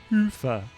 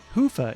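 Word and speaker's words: Hyvä: talk Commerce is sponsored by hia or as the Europeans say Hua or the right way to say it hoofa is rapidly becoming the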